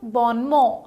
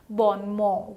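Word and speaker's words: bon mot: explanations okay how about born more so this the correct pronunciation of this word is born more it's not born more it's born more so ba ma is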